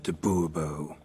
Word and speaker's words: de Bourbeau: Monsieur de Bourbeau. The emphasis falls on the last syllable.